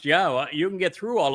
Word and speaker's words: Yahweh: And um and here is the evidence that Yahwa's name is pronounced Yahwa.